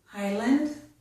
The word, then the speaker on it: island: The letter S is not pronounced. This is island.